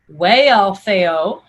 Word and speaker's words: Wealhtheow: So Hrothgar's wife, whose name is Wealhtheow, is pronounced way for the W-E, and then you have that A and that L. So Wealhtheow, Wealhtheow. If you run it together, Wealhtheow.